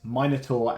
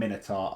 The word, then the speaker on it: minotaur: have to check and yes minur and minitar are both valid pronunciations of this so I'll keep saying